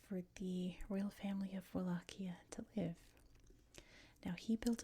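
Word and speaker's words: Wallachia: In the 1400s, this part of Romania was known as Wakia, which is how we say it in English. Wakia. It's definitely not how you say it in Romanian.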